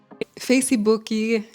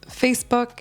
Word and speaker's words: Facebook: The mistake here is adding an extra syllable or an extra sound to the end of these words. We pronounce it more abruptly. Facebook, hot dog, face, WhatsApp.